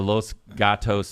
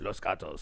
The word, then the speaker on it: Los Gatos: We're going to come back and talk about the Los Gatos party mom. Am I even saying that right? Is it Los Gatos? Los Gatos?